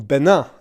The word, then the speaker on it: Bénin: So me, I, singular, am flying to the Tour de Bénin, or Benin, I should say, to give it its French pronunciation, which I have been